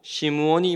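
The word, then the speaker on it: שמעון: 시몬은 시몬 베드로를 말합니다 시몬 베드로를 히브리 식 발음으로 시무 원이 말하여 따라고 야고보 사도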